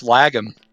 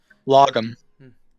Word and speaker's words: lagom: But it's lagom. Oh yeah, it's lagom, isn't it? Logum. Lagom. It's spelled like lagom, but it's pronounced logum.